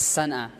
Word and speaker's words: Sana'a: So the country name is Yemen, okay, and then the capital is Sana'a. Sanaa, Sanaa. Sanaa means, in Arabic we pronounce it Sanaa.